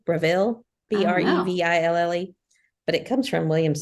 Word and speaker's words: Breville: It's Breville, Breville, but it comes from Williams Sonoma.